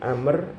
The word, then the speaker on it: Amr: Amr, kalau Amr itu ada wawunya tulisannya, tapi wawunya hanya bedakan tulisan dengan Umar. Tapi itu akarnya sama itu maknanya. Jadi Amr, Umar.